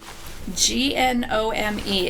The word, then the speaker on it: gnome: If you're not a native English speaker, G-N-O-M-E is actually pronounced gnome. The G is silent.